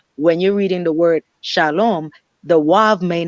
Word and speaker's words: shalom: You have to have that O, that ow sound, that ow, that wav, sound.